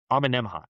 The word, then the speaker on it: Amenemhat: Amenemhat.